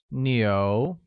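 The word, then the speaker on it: 牛: royal attorney oh where cow translates to neo and is pronounced with the mid rising tone great here's a quick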